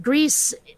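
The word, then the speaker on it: Gris: alternate channel uh it's it like Greece uh the way it's spelled g r i s is Spanish for gray and it is it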